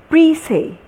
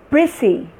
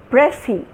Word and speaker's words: prissy: And this is prissy, prissy, pressy.